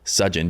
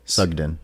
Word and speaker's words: Sugden: attitude handy sugeon did I just butcher Butcher your last name yeah how do you say it sugden sugden yeah I've never heard